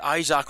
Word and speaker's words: Isaac: I was pronouncing his name incorrect. It is Isaac rather.